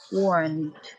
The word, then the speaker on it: warned: Deh juga sebetulnya ada plosifnya sedikit ya. Warned. Jadi nggak ada tuh walked ya. I worked nggak ada ya. Jadi dibacanya teh atau deh atau id ya.